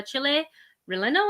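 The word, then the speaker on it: chile relleno: the left there you have the chili uh chile relendo is how you say it empanada with pepper salsa and oh i can't pronounce that word cotija kotiha cheese but this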